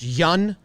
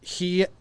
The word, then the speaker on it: Hyun: Baseball Reference says that for Kim, it's pronounced Yun, and for Ryu, it's pronounced Hyun. Hyun is how they say.